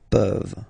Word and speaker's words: peuvent: Je peux, tu peux, il peut, elle peut, nous pouvons, vous pouvez, ils peuvent, elles peuvent. Okay, as usual, this ending, this ENT ending, you write it, you don't pronounce it.